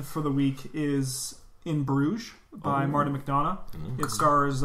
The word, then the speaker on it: Bruges: bruises one of them can you pronounce it bruce or do you say bruce's it's bruges yeah because i heard some